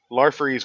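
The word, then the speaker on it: Larfleeze: lar freezes Christmas special lar freeze was the orange lantern oh is that how you say them lar freeze yes very actually I knew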